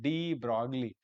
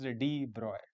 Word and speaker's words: de Broglie: Actually, we Indian students pronounce it as de Broglie. We pronounce it as it is written, but actual pronunciation is de Broy.